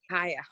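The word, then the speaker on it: Khaya: spell her name KH aya okay and you pronounce it kya or yeah kya freeze Alya also you know my daughter's name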